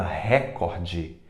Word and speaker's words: recorde: eh Nacional a palavra recorde na verdade não é recorde é recorde recorde a mais forte é o Core já pensou ficar essa palavra na prova Urca para você é recorde e não recorde ela é paroxítona pudico o di é